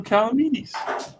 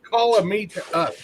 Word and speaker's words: Calamides: Say his name right. It's Calamides. It's call a me to us.